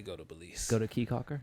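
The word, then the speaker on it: Caye Caulker: Go to Key Calker. It's a little island. They got a bar in the middle of the island. Key Calker. Yeah, but it's Caye, but they pronounce it Key.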